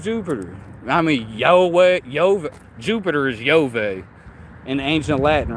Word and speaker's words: Yahweh: I mean, Jupiter is Yahweh in ancient Latin, right? His name is pronounced Yahweh.